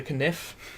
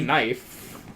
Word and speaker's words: knife: knife. Kniff. The E silent. Don't you know? I wasn't aware. I mean, it is silent because it makes the I and I sound.